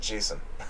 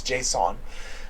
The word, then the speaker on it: JSON: It depends on how you say it. Some people say JSON, or some people say Jason, but it's not Jason. It's not a name, it's JSON.